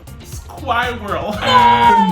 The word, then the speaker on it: squirrel: No, the B is silent, so it's plumber. Plumber. Plumber. What are those words? Oh my god. Squirrel. Squirrel.